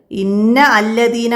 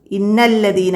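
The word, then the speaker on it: إن الذين: പക്ഷെ അത് ഇന്ന അല്ലദീന എന്നല്ല നമ്മൾ ഓതുക, ഇന്നല്ലദീന. അപ്പോൾ ഇവിടെ ഉച്ചാരണത്തിലില്ല. അപ്പോൾ അതൊക്കെ മനസ്സിലാക്കാം.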